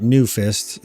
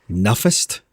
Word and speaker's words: Nufist: However, because of the edgelord in me back then, I couldn't just spell it Newfist, so I spelled it Nufist. So it kind of looked like Nuffist. So maybe that's how you were pronouncing it.